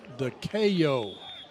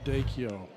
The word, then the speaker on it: DeKeo: It's DeKeo, not Dakeo.